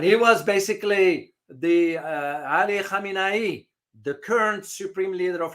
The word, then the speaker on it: Khamenei: Now, there's a big pronunciation difference here. Khamenei, the current one, Khomeini was way back.